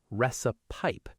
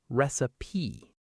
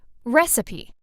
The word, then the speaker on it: recipe: A lot of learners pronounce the last part like pipe, recipe. But it's actually softer, recipe. Let's practice. Re ci pe. Together, recipe.